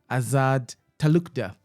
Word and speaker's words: Azad Talukder: Today, we focus on Limerick-based Councillor Azad Talukder from Bangladesh. I believe I pronounced your name very well.